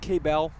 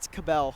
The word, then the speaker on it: Cabell: is it pronounced K-Bell? It's Cabell. Cabell. Yes.